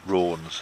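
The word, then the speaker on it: Raunds: How do you say Rounds? Rawns. Rawns, there you Yeah.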